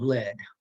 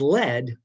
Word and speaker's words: lead: somebody is spelled l-e-a-e-d the past tense up to lead somebody or something is lead which sounds like what this is made of lead but it's spelled led i led led my